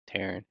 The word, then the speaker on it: Taran: hope not that's like rhymes with karen taran that salicious be crumbs